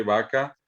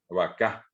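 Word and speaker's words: vaka: Siempre que en guaraní no aparece el acento pintado, quiere decir que el acento está al final, en la última letra. Y por eso es caballú, vaca.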